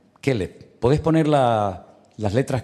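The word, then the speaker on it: כלב: Vamos a ponerle al perro Kev, porque así se dice perro en hebreo. Kellev.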